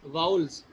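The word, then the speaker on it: vowels: जी, वाउल्स। इसमें W silent है, हम इसको पढ़ेंगे वाउल्स।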